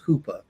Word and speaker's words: chuppah: And part of that wedding, like what Michelle was talking about earlier, is the chuppah, or more commonly pronounced as huppah. But it begins with the living letter chet.